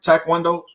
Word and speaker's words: taekwondo: It was taekwondo. I'm saying it right? Taekwondo.